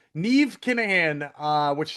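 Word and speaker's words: Niamh: Oh, Neve. Nev Kahan. Uh which sounds like Steve. Nev sounds like Steve.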